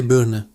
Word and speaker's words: Birne: A pear in German is die Birne. Die Birne, the I and Ari are pronounced clearly.